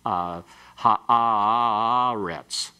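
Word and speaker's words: הָאָרֶץ: You'd say something like ha'aretz. You see, you just carry it out longer, and sometimes different notes being used in the chanting will be what will occur.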